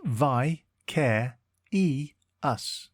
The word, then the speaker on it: vicarious: one word at a time today's word is vicarious it is pronounced VI care e us and is spelled v i c a r